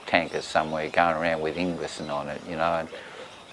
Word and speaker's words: Ingwersen: Well, it's been bastardised, you know, we just say Ingwersen, but it's the W over there is a V, you know, so it's, you know, if you went to Denmark where there were still Ingwersens, they would pronounce it probably Ingversen. Yeah. And it's the son of Ingvar, so Ingvar's son.